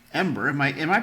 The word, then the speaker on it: Embr: new body hacks through a wonderful device called Ember. Am I Am I pronouncing it right? Yes. EMBR. The Ember Wave.